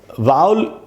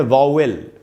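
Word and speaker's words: vowel: वाउल का उच्चारण होता है वाउल, उसको हम लोग अपने देश में बोलते हैं वावेल, ठीक है, जो भी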